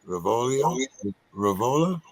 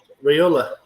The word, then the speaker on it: Raiola: I know you'll pronounce his name right. Raiola. Raiola.